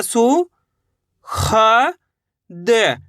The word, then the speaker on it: सुखद: सा में छोटे ऊ की मात्रा सु। ख द, सुखद। कैसे पढ़ेंगे?